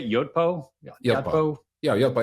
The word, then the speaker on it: Yotpo: Yotpo.